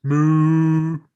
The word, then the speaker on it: Mu: And you find out that the land of Mu is actually pronounced Moo.